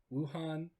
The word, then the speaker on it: Wuhan: and i believe it is like the woo wuhan yes that's the correct pronunciation it's the w-u-h-a-n right i mean aside